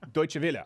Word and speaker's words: Deutsche Welle: from spend computer from journalist how do you pronounce this pen defend computer don't want no no deutsche welle okay thank you you were dismissed a lawyer